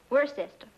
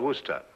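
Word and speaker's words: Worcester: But it's spelled W O R C E S T E R. We're sister. Oh, yes, I see. Yes. Lord Worster.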